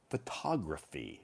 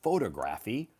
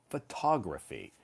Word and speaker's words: photography: And a photographer takes photographs, but their hobby is photography, not photography, photography.